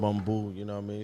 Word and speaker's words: Bumbu: we we sitting here with some how you pronounce it bumo it's bumo you know what I mean shout out to